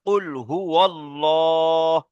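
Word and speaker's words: قُلْ هُوَ ٱللَّهُ: কুল হু আল্লাহ। বলেন, কুল হু আল্লাহ। লাম খাড়া জাবার ল, একালিপ টান আছে, ঠিক আছে? তারপরে কি আছে? হা পেশ হু। তাহলে কি হবে? কুল হু আল্লাহু।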